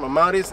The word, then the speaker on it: Amauris: Amauris here. That's how you say my name, Amauris.